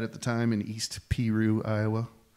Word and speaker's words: Peru: the time in East Peru Iowa it's spelled like Peru but it's pronounced Piru and I gave him